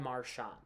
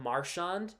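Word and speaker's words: Marchand: him as Brad marand if you call him marshand I'm not really going to worry I was kind of cringe a little bit because I don't I don't like it pronounced like that I'd prefer everybody calls him marshand but and plus it sounds better Mar instead of mar sh you know what I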